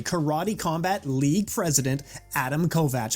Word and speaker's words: Kovacs: as well you know it sounds like in Hungarian you say Kovach yeah um and uh you know when I try to say my name in English I do say Kovacs so don't worry about